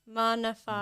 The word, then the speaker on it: Maana Faay: Maana Faay.